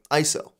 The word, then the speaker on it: ISO: The last portion of the exposure triangle is ISO, which some people will pronounce as a word, like ISO.